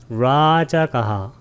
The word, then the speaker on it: 라자가하: 라자가는 빨리어로 라자가하, 라를 길게 발음하면 됩니다.